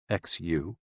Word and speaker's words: xu: the six sounds are xu pronounced like shh with a deep sigh which is associated with